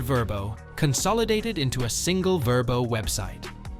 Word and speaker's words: Vrbo: Consolidated into a single verbo website the choice to rename it verbo from the ab ration varbo was rooted in research aiming for a name easier to remember and pronounce globally this transformative Journey positioned verbo